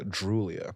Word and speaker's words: Droulia: But we have Veronica Droulia. Is that how I pronounce it?